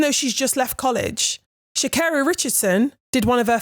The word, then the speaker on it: Sha'Carri: She was like getting asked questions and they were getting her name wrong. And she was like, first of all, it's Sha'Carri.